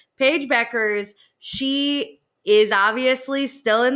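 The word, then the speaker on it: Bueckers: There's a U, but the U is silent. Paige Beckers.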